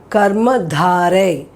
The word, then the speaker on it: कर्मधारय: So I'm saying this one as Karma Dhare. Dhare.